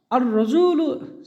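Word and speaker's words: الرجل: আর রজুলু শরীফুন, র আমার একটা হরফ যার আগে আল আসলে লাম উচ্চারণ হয় না, র এর ওপরে তাসদিদ চলে আসে।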